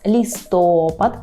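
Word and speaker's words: listopad: наступний місяць це листопад наголос листопад пильнуємо листопад у листопаді Ми кажемо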